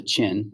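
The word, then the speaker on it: Qin: group known as the chin i know it looks like ken but chin are going to emerge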